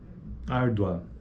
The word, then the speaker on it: árdua: ditongo crescente ou decrescente ele é crescente porque ó ardua árdua é a segunda vogal que tem para eminência